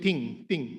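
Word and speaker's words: 听: This is what parang sinasabi ng Chinese, they pronounce it ting.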